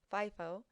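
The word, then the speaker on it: FIFO: first out or 50 is pronounced with a long I and a long o fie fo last in first out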